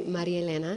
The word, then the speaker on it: Maria-Elena: So, for those of you who understand Spanish or it's easier for you to pronounce, it's actually Maria-Elena, mm-hmm. English Maria-Elena.